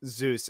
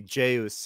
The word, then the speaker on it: Zeus: It's Zeus. It would be Jeus in if you directly translated it into like Korean phonetics, but yeah, I mean, it's Zeus.